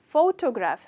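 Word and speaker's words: photograph: Okay दोस्तों, इसका मतलब तो आपको पता है, पर इसका प्रोनाउंसिएशन फोटोग्राफ है, फोटोग्राफ। तो आप स्ट्रेस करते हो यहाँ फोटोग्राफ, तो फोटोग्राफ नहीं कहते हो, फोटोग्राफ।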